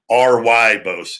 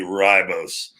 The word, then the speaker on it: ribose: be my r but it will be ry bose it's spelled ri but it'd be ribose uh that 10 grams